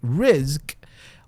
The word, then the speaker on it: rizq: around provision, okay, or rizq as we call it, right? R-I-Z-K. You can, if you want to pronounce it in Arabic, rizq, or your provision, meaning